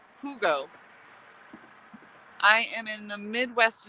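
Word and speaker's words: hygge: it's everywhere it's pronounced okay hold on it's pronounced hugo i am in the midwest usa but it's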